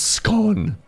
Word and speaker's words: scone: It's pronounced scone in my most English voice possible.